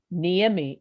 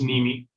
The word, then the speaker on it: Niemi: And I think I'm pretty familiar with Miss, is it, I keep calling it Niemi. Is it Ni? Is it pronounced differently? It's pronounced Nimi.